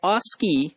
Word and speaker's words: ASCII: Interchange, that is called ASCII, and that is pronounced as ASCII. So that ASCII had 7 bits for information representation, and most significant bit was just 0.